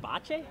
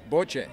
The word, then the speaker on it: bocce: Bocce? Bocce.